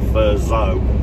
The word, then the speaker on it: Thurso: between Castle town and thurso or as the locals say fur so planted with a zed